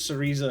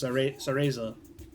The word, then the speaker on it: Cereza: or cereza I suppose I pronounce it sarisa because it sounds like because like Theresa but it's cereza anyway sources of negative